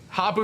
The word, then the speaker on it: Hapu: Hapu rhymes with Tapu.